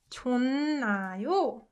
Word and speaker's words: 좋나요: So it softens to 은 and then н. So this 좋나요 is pronounced 좋나요.